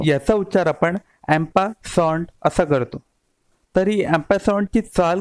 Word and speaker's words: en passant: मित्रांनो, याची स्पेलिंग जी बघाल तुम्ही इंग्रजीमध्ये, त्यावरून तुम्ही याचा उच्चार एन पॅसंट वगैरे असा कराल, पण हा फ्रेंच भाषेतून निर्माण झालेला शब्द आहे, त्यामुळे याचा उच्चार थोडा वेगळा होतो.